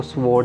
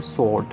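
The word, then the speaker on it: sword: इसको स्वॉर्ड नहीं बोलेंगे, इसको बोलेंगे स्वॉर्ड। W, जो W है वो यहाँ पर साइलेंट रहेगा।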